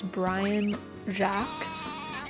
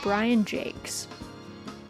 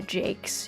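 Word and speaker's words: Brian Jacques: husband was like no he pronounces it Jake instead of Jack or Jacks so yeah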